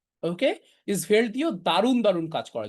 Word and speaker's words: Svelte: আপনারা হয়তো অনেকে শোনেনই নাই, এটার উচ্চারণ হচ্ছে svelte। ওকে, svelte দিয়েও দারুণ দারুণ কাজ করা যায় এবং এটার কোড লেখাও অনেক সহজ।